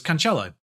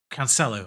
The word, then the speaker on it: Cancelo: him directly which was cancello cancelo i don't i don't think you actually do the accent thing with this uh can cancel because he doesn't have an accent on the c but romantic transfer listed